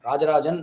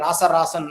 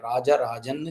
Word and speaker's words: ராஜராஜன்: அவர்கள் அந்த பெயரதான் பயன்படுத்துகிறார்கள் ராஜராஜன் அப்படின்ற பெயரு அந்த ஜா என்கின்ற அந்த கிரந்த எழுத்தோடுதான் தஞ்சை பெரிய கோவில் கல்வெட்டுல இருக்கு இவங்க சொல்ற மாதிரி ராசராசன் அப்படின்றதுல்லாம் இல்லவே இல்ல ராஜராஜன் ஜ அப்படின்ற உச்சரிப்போடு தான் அங்கு பதிவு செய்திருக்கிறார் அதே மாதிரி தான் கட்டிய